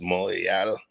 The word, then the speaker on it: Montreal: I kind of took it for granted because there's a large Haitian community in Toronto and what y'all say Montreal, but it's Montreal, like almost real mountain.